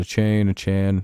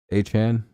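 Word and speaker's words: Achane: I haven't heard that last name pronounced the same way once yet. Do you know that? Like, week to week, it's been a different pronunciation from every source. A-Chan? A-Chan? I hate names like that, dude. Why even have the E there, then? I hate silent letters, dude.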